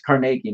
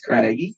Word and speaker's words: Carnegie: I I read it's Carnegie not Carnegie really it's Carnegie yeah because he's Scottish and it's pronounced Carnegie I learned that world